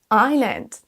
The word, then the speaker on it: island: Donc le aisle, on s'en sert donc dans ces deux cas de figure, l'île et pour dans l'avion, mais à chaque fois le S est silencieux. Aisle, island.